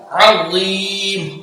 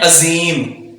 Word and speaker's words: عظيم: अज़ाबुन अज़ीम, अज़ीम पुर और बगैर सीटी के अज़ीम। हम पढ़ जाते हैं अजीम, जो कि हम यहाँ जा को प्रोनाउंस कर रहे होते हैं, जो कि बड़ी गलती है, हराम है। हमने इसको पुर पढ़ना है, बगैर सीटी के पढ़ना है।